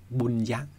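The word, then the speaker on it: puñña: 帕奥禅师就讲说，在巴利里面呢，福德和功德的发音都是一样，都叫做布尼亚。放大一点呢，叫布尼亚。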